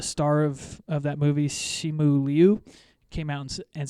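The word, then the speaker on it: Simu Liu: shang-chi who the star of of that movie shimu liu came out and said this is how you pronounce it so correct pronunciation okay okay all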